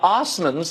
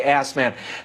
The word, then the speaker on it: Osmond: license plate well what happened well the the Osmonds that's the way you pronounce it Osmond some crude people might say ass man at quite a storied history Dave's distant relative